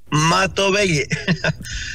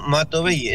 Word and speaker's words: Matovelle: duda en el estudio Cómo se pronuncia su apellido mato Belle es con v y d l Diego mato Belle Ese es mi apellido perfecto e Muchísimas gracias